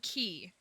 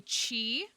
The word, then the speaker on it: Qi: I say Mr. key because it's qi. There's no right way to say it. A lot of people say chi, which also does make sense. Um, but concerned Dave said qui qui and that's just wrong. That's incorrect. That's incorrect. Uh, that's incorrect. Say it any way you want, but not like that. You can't say it like that.